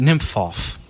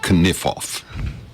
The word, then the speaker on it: Kniphof: Well, it is, and it's named after a guy named Nymphof. Nymphof. I bet it's pronounced in German. I bet it's pronounced Kniphof. Kniphof. I bet he's right. So there. Because they pronounce the K in.